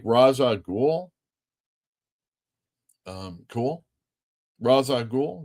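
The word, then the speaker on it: Ra's al Ghul: Raza Ghoul rhymes with cool.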